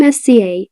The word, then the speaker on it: SZA: The name SZA, pronounced SZA, is an acronym of words from the Supreme Alphabet.